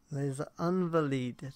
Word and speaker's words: Les Invalides: Les Invalides.